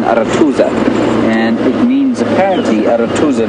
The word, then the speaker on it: Arathusa: This is called Arathusa, or if you say it with proper pronunciation, Arathusa.